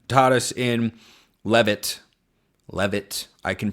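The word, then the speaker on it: Levitt: Cuz you know, Joseph Gordon Levan taught us in Levit Levit, I can pronounce things.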